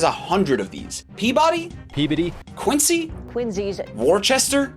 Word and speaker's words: Peabody: Pee-biddy.